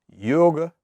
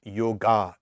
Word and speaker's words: yoga: of yoga now briefly yoga and i know it's pronounced yoga in many places but it's really yoga so it doesn't matter if it's getting it's an elongated ah it has two meanings